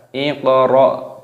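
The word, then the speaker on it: اقرأ: Di sini ada hamzah wasol, ini dibaca iqra. Kita kasih harokat kasroh. Iq. Qafnya berharokat sukun maka dipantulkan di qalqalah. Iqra.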